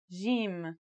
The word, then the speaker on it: jim: in Standard Arabic and Syrian Arabic it should sound like the J in the word Jam while in Egyptian Arabic it sounds like the G in the word game they're both quite easy